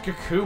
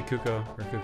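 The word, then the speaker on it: Cucco: I just say that finding out that is pronounced Coco ruined my life dude why don't I'm in your life cuz that perhaps it Kaku my entire life yeah I still did too let's say cuoco whatever yeah I think I alternate but I'm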